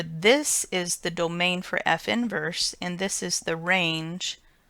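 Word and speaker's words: f⁻¹: the notation used for inverse function and it's pronounced F inverse it's not as this caution says it's not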